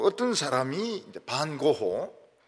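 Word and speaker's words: Van Gogh: 또 어떤 사람이 이제 반고호, 영어 발음은 뱅고 이릅니다. 뱅고.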